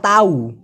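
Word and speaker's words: tahu: তো ওরা সাধারণত ল্যাটিনটা বলে সাইয়ে তা তাউ, সাইয়ে তা তাউ।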